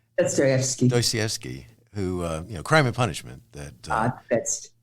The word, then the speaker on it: Dostoevsky: Dostoevsky, who Crime and Punishment.